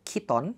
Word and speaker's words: chiton: Kita maju ke tahun 470 sebelum Masehi, ada yang namanya chiton, tapi ini kayaknya bacanya kiton.